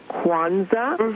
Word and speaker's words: Kwanza: I'd like to first of all uh tell your guests that is it is pronounced Kwanza.